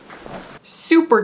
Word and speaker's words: Souper: Super cubes, spelled like soup, s o u p er cubes.